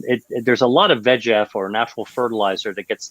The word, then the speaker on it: VEGF: vascular endothelial growth factor it's the easy way to pronounce it it's vegf the egf and it's kind of